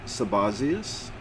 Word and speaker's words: Sabazios: 2015 common era authors sabazios commonly pronounced sabasius 10 degree or x degree usgl of oto and tau helena tau equals 400.